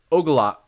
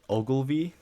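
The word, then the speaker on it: Ogilvie: pacific northwest line right they terminate at the ogalla oh sorry how do you pronounce it ogilvy yeah uh i believe it's that yeah transportation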